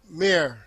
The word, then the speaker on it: Mair: Mair. Did I pronounce that right?